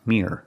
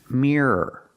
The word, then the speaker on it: mirror: The word is not pronounced mirror, mirror. I have to pronounce it with two syllables. Mirror, mirror. So don't pronounce it with one syllable, mirror, like beer and fear. Pronounce it with two syllables.